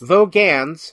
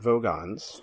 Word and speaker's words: Vogans: Vogans, not Vogons.